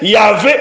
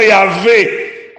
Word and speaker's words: Yahvé: Cependant, la prononciation Yahvé est probablement juste.